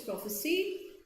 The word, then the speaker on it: prophecy: So noun is prophecy, verb P-R-O-P-H-E-S-Y is prophesy. Both mean same thing.